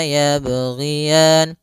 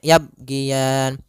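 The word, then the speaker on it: يَبْغِيَانِ: dalam membaca huruf Qalqalah yang pertama dia tidak memantulkannya misalnya yabgian nah itu dia kurang tepat yang kedua menambahkan Hamzah ini kesalahan juga misal yaban nah ini juga kesalahan yang seling terjadi atau dia putus yabanah harusnya dia tetap mengalir berjalan dan tidak boleh putus la yaban la yaban Kemudian pada falian sendiri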